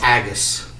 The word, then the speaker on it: Agus: and Agus. Agus. Zendry. Rhymes with haggis.